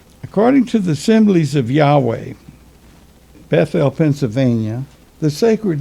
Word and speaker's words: Yahweh: the proper valves are inserted the name is pronounced yahweh according to the common miriam webster's ninth collegiate uh ninth new collegiate dictionary in 1987.